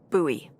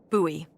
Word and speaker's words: Bowie: huge Rusty Bowie knife it's actually pronounced buoy what no it's like the last name like David Bowie different last name buoy are you just messing